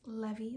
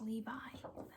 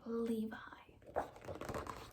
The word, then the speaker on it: Levi: longest time i thought that his name was levy like i thought that even though like levi jeans were pronounced levy and i thought that made more